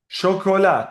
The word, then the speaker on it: chocolat: chocolat, chocolate. We use the French word, chocolat. Also, it is chocolat. The syllable, the stress is on the last syllable, just like in French.